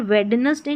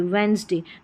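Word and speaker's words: Wednesday: जैसे यहां पर वेडनेसडे नहीं बोलते। वेडनेसडे। तो इसमें डी साइलेंट है। ये जो डी है ना ये साइलेंट है।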